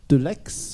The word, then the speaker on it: Deleixhe: crise d'accueil des migrants de 2015 avec Martin Delex, je prononce bien ?